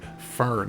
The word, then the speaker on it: Fern: That is, sorry, Fern is the way that is pronounced.